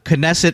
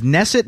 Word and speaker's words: Knesset: a correction that uh knesset wasn't knesset you're saying it was nesset but I was looking up a online dictionary pronunciations of it oh I did talk about this already I'm sorry folks well what did you conclude uh I think I'm at it's knesset but with a with a quick k